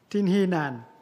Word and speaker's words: Tinhinan: give the floor to the distinguished representative of Tinhinan. I hope I read the name properly. Merci, cher Président. Effectivement, vous avez bien prononcé.